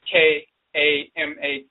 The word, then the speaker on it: Kama: And sometimes they spell it with a K-A-M-A, Kama, or C-A-M-A, Kama. So Chama and Kama is the same pronunciation.